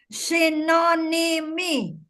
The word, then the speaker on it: synonymy: Kamu dihilang-hilangkan itu ya, syllable synonymy.